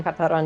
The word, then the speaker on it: Katara: Um, you can also call me Karana or you can call me Katar if you want to say it properly.